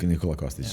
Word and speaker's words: Nikola Kostic: Nikola Kostic. Nikola Kostic, yeah, yes. I pronounced that right.